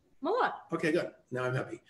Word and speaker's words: Malott: Malott. Okay, good. Now I'm happy. Right. I just don't like mispronouncing things.